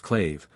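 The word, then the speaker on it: claidheamh: Britains I have translated clmh pronounced claive by glaive Trail by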